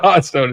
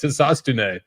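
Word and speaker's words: Hisatsune: That's the correct pronunciation. And Kobe calls him Hotstone. It's not Hotstone. It's Hisastune.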